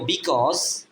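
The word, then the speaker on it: because: হয় আমরা কি লিখবো বিকজ বি উচ্চারণ বি এর বি সি এ উচ্চারণ হবে ক এখানে ইউ এর উচ্চারণটা হবে না কারণ কি পাশাপাশি দুইটা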